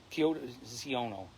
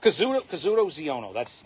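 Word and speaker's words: Kazuda Xiono: I'm gonna Kyoto Ziono. It's bugging me now that I get his name wrong. Kazuto Ziono.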